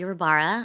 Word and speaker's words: Rabara: it's Rabara.